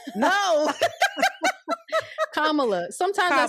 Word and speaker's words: Kamala: at the front yeah just put the accent at the front Kamala no Kamala sometimes I say it